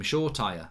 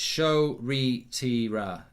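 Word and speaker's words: Shoretire: at uh manchester united who everyone calls him short tire because that's what it looks like it is and um apparently it's pronounced chotieri so i don't know i don't i don't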